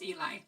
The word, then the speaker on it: Eli: by the name of Ellie erlick okay wait I just got a message from Eli their name is pronounced Eli so sorry it's Eli just forget I said Ellie it's Eli their Twitter